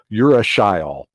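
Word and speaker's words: urushiol: caterpillarly looking molecule called uracil and i always pronounce that like you're a shy all and so each of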